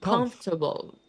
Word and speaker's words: comfortable: So remember that the problem here is that it's spelled comfortable. That's how it's Comfortable. spelled, but the pronunciation is comfortable.